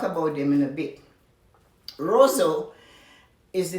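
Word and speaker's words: Roseau: people we'll talk about them in a bit rosso is the name of the city r-o-s-e-a-u not spelled like the rosso you hear in canada the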